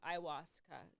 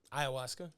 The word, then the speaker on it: ayahuasca: And if we take away the stigma of it being illegal, it actually could be good and beneficial, kind of like a ayahuasca type vibe.